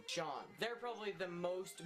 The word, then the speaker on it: Sean: Basically pronounced S-H-A-W-N. It's that same pronunciation. Sean.